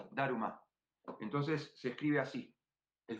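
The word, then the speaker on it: ダルマ: Entonces, cuando ellos, los japoneses, no van a pronunciar Dharma como nosotros, van a decir Daruma, Daruma. Entonces se escribe así, el famoso Daruma. Daruma es la pronunciación japonesa para Dharma, Bodhidharma.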